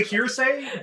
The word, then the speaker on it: Heresy: It's called the hearsay, but it's spelled heresy.